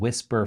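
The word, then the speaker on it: Wispr: The tool that he recommended, let's just get right to the good stuff, is called Whisper Flow, but it's spelled W-I-S-P-R, I believe, Flow.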